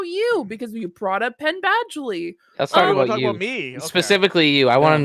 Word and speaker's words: Penn Badgley: it always comes back to Penn Badgley wherever the his name is